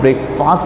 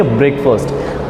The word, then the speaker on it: breakfast: लेकिन मैं बोलना चाहता हूँ ब्रो कि इस वर्ड को भी हम लोग ब्रेकफास्ट नहीं कहेंगे, इसे हम कहेंगे ब्रेकफास्ट।